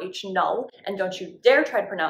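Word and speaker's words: H₀: or 0 subscript, and it's pronounced H naught or H null, and don't you dare try to pronounce it as anything other than that.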